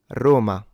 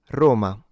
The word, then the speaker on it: Roma: So within standard Italian diction, this is supposed to be a closed O rather than an open O.